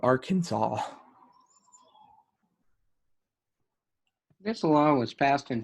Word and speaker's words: Arkansas: a um you know the last a was to be pronounced with the italian sound of ah and then the final s was to be silent and the accent was to be on the first and last sil like they detailed all of this out so you know which eventually led to the pronunciation of arkansas this law was passed